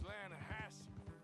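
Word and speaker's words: Lannahechee: Yeah, but it's pronounced Lanahatchee. Why is everything in English said differently than it's written?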